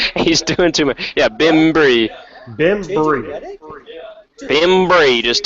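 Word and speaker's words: Bembry: yeah let's down pronunciation it's it's Bim BM Bim it's that simple bimm not BM just two syllables bimy brim no you're doing you're doing too much b n b r e y b he's doing too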